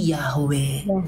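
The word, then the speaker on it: Yahweh: itu kan Yehova itu adalah orang berusaha membaca Yod he Va jadi Yod he Va he lalu orang masukkan huruf hidup untuk bisa baca lalu disebut Yehova tapi ada orang lain juga versinya Oh bacanya itu menambahkan a lalu menambahkan e jadi yahwe ada yang membuat yeha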